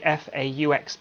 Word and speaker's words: faux: Now, Yolanda's question, by a folks, it's basically FAUX plant. FAUX, how do you even pronounce that? Oh, faux, yeah.